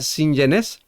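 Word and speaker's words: συγγενής: Pues en griego la palabra familiares es si ni sinienés sería la pronunciación correcta o sinenés más bien, perdón, sería sinenés que se refiere acá a la parentela o familia extendida.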